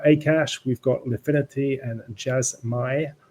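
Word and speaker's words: Jasmy: So we've got Akash, we've got Lifinity, and Jasmai, or Jasmay, I think it's pronounced.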